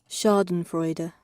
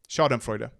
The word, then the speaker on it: Schadenfreude: Schadenfreude, and how do you pronounce that? Schadenfreude. It is Freude, okay. Schadenfreude.